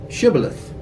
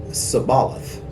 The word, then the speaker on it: shibboleth: they would tell him to say shibboleth and if he was from Ephraim he would say sabalith because people from Ephraim cannot pronounce the word correctly and then they would